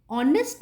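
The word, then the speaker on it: honest: makes the vowel sound M एच is silent there is no sound of एच इन the words ऑनेस्ट एंड आर मैंने क्या बोला नेस्ट एंड हार नहीं है ऑनेस्ट एंड आर है these words start with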